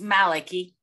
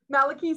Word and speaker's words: Maliki: speaker it is Dr Malika did I pronounce that right Dr it's Maliki Maliki sorry about that um but thank you so